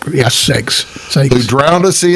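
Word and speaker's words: Ceyx: King C YX how do you say cyx sakes s yeah sakes Sak who drowned a sea in a massive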